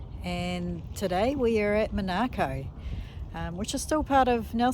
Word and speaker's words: Monaco: named after Monaco, but it's been known as Monaco for 100 years or more by the English and European settlers. So it will be pronounced Monaco forevermore, probably.